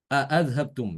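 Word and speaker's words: أأذهبتم: Imam Ibnu Dakwan dia bacanya a'adhabtum ya. Wa yawma yu'radu alladhina kafaru 'alan nari a'adhabtum thayyibatikum. Perhatikan a'adhabtum thayyibatikum. Dia baca demikian. Ini berarti dia dibaca tahqiq ya, tanpa idkhal. A'adhabtum.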